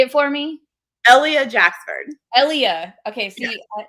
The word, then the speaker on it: Ellia Jacksford: Ellia Jacksford. Ellia. Okay. See, yeah. I just want to put the emphasis on the wrong letter.